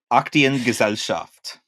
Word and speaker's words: Aktiengesellschaft: And can you talk a little bit about DEFA, which I'm going to let you pronounce the actual Deutsche Film. What's that last word? Aktiengesellschaft.